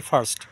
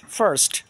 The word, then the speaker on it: first: এফ আই আর এসটি আমরা এটাকে বলে থাকি ফাস্ট কিন্তু এটার সঠিক উচ্চারণটা হবে ফারস্ট ফারস্ট ফারস্ট ফারস্ট ফারস্ট তারপরে আমরা আরেকটা ওয়ার্ড